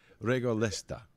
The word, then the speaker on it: Regolesta: i was called regolita as a child um regaletta like a player question how do i spell that to double check because i wrote it down two different ways and i just realized i don't have uh regolesta pardon me r-e-g-o-l-e-s-t-a that was my name as